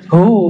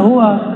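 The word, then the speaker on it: هو: Allahu la ilahailla hu ya Hu bacanya hu jangan Hua kecuali disambung panjang enggak hunnya lailahaillahu pakai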